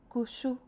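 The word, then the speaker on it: ཀུ་ཤུ: Here we have ga shab gyu, so that's gu. And sha shab gyu, shu. We know this is two syllables, so it must be gu shu.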